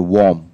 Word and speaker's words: worm: So the difference is between the worm and the worm. Yeah, this is pronounced worm. Worm. Worm. Even though it looks like warm, but it's pronounced worm, actually.